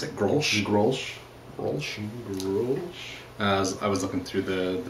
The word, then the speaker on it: Grolsch: Is that how you pronounce it? Grolsch? Grolsch.